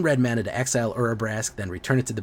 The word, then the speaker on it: Urabrask: Urbarisk. Yes, Urabrask.